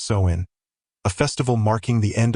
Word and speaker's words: Samhain: UK and northern France they celebrated sawin swin pronounced soen a festival marking the end of the harvest